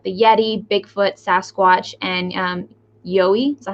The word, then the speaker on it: Yowie: In your opinion, these kinds of creatures around the world, like the Yeti, Bigfoot, Sasquatch, and Yowie, is that how you say it? The Yowie.